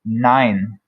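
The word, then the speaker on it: nein: all of its conjugations e i pronounced like the english letter i so it does not sound like e it's not mean it's nine nine all right so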